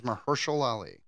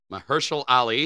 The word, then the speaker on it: Mahershala Ali: His name is Mahershala Ali. Mahershala Ali. He is an Oscar winner. We have to pronounce his name correctly.